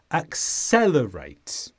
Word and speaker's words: accelerate: is a verb and the stress is on the sound cell accelerates and this means to